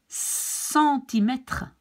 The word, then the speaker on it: centimètre: Like here, you see, the C in front of an E will be pronounced like an S. Centimètre.